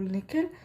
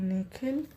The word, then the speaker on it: Nikhil: down at his sneakers the way the principal pronounces his new name is different from the way his parents say it the second part of it longer sounding like heel she bends down so